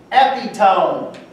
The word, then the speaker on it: epitome: And he said, "Epitome, E-P-I-T-O-M-E. Are you itching?" "No, Your Honor." How do you pronounce that word?